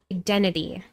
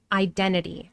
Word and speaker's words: identity: Identity. Identity. Identity. Identity. Identity. Identity. You can say identity, but it's very common in American English to drop the T identity after the N.